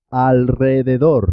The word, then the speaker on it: alrededor: doble también suena doble cuando la r va después de l n o s se escribe simple una sola r pero suena doble por ejemplo en alrededor de alrededor enrique enrique